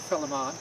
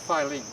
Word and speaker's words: Philemon: I pronounce it Philemon, she pronounces it Philemon.